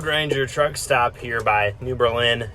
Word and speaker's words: New Berlin: truck stop here by New Berlin Illinois or New Berlin as the locals say and got my fantastic